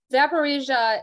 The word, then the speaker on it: Zaporizhzhia: trust me the way it's written is not how it sounds so zaparisia is a nuclear plant in